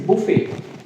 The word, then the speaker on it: buffet: Someone say buffet, someone say buffet. T is silent. It is buffet.